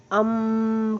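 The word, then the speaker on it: ॐ: Crown चक्र का मंत्र ए यू एम करके भी है। आप इसको अम करके उच्चारण कर सकते हैं।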